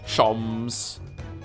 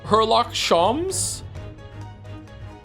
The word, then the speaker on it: Sholmes: Shoms is pronounced the same as Joms. Shoms. Herlock Shoms.